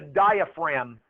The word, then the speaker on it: diaphragm: is called the diaphragm this is the DIA fragum I got to put the G in I got to say the g or I spell it wrong diaphragm and it's it's got a g in it and as